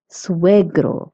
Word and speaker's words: suegro: Also notice that SUE in suegro and suegra is pronounced sue.